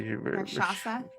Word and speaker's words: Rakshasa: In particular to see what the Rakshasa, pronounce it for me. Rakshasa?